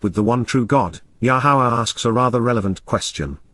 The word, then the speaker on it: Yahowah: advance of it occurring yahwah yahwah the proper pronunciation of yahwah our eloah God has